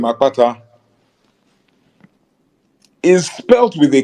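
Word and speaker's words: Akpata: p a t a the b spell their version of the name a k p a t a because in the B alphabet you have what they call expletives so the expletive KP is in my name but theas don't spell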